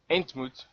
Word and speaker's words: entmoet: Well, it's spelled it's ent, like the ent trees, and then M-O-E-T, like ontmoet, entmoet.